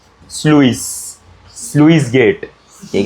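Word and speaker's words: sluice: है when the ये स्लुईस स्लुईस gate ठीक है अबे स्लुईस ही है ना वो क्या पढ़ रहे हो तुम लोग उसको स्लूस स्लाइस बोल रही है जो मरने का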